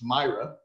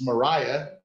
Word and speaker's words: Mariah: the yard and it says i'm bad at pronouncing your first name it's myra it's mariah dammit sorry i mean sorry mo dang it